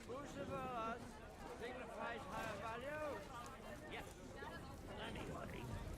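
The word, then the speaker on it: Bucephalus: It's pronounced Bucephorus.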